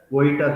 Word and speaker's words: Vojta: Though it is spelled as Vojita therapy, but it is pronounced as Voita therapy.